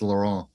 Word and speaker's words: Laurent: Kiss of Death, and my guest is Chris Laurent, right? That's right. Well, Am I saying it's that it's correctly? it's a Chris little difficult to pronounce with the native tongue. It's Laurent.